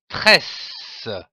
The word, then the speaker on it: tresse: Les lettres E et de S se prononcent S comme par exemple le mot tress. Attention. Le E devant les deux s se prononce et mais sans accent.